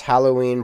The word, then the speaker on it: Halloween: so Hallows Eve right I was pronouncing it like hollow like empty I said huh instead of how like so I was